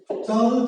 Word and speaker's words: চল: কি জল, এটা হলো চল চল চল, হস দিয়ে কি হচ্ছে শব্দটা? চল চল চল।